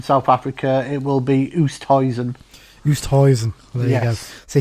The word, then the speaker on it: Oosthuizen: Having worked with a lot of lads from South Africa, it will be Oosthuizen.